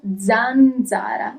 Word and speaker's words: zanzara: Okay, and now let's see letter Z, Zeta. For example, zanzara. You hear the sound zanzara. That's mosquito.